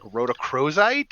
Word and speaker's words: rhodochrosite: I cannot pronounce that last one. It's like rhodochrosite.